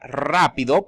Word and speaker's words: rápido: Recordemos, la palabra rápido, por ejemplo, empieza con R, es una sola R, pero se pronuncian como si fueran dos R.